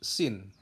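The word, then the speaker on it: سين: Kemudian sin. Sin. Berbeda dengan shin. Berbeda lagi dengan so. Sin itu tipis, shin itu lebih tebal, so itu bibir dimonyongin. So. So.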